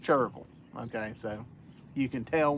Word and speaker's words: Cherryville: from Gaston County, but when you're from Gaston County, that's pronounced Cherville.